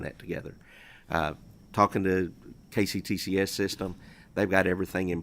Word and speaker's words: KCTCS: I want to call it WKCTCS, but it's KCTCS.